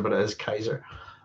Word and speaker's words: Caesar: I always pronounce it, I know everybody says Caesar, but it is Kaiser. I always pronounce it as a K.